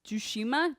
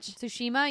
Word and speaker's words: Tsushima: excited to see more ghosts of I can't pronounce this Jew shima-ya Tsushima yeah she meant like well actually you know